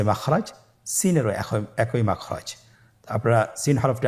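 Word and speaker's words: سين: বাকি দুইটি হরফ নাম হল সিন এবংশিন সিন এবংশিন সিন হরফটি উচ্চারণ ক্ষেত্রে অবশ্যই তিন আলিফ টেনে পড়তে হবে সিন হরফটি বারিক হরফ পাতলা করে উচ্চারণ করতে হবে তাহলে আমার সাথে বলুন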